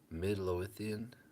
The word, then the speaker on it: Midlothian: Midlothian, Midlothian, Texas near Dallas, Tennessee.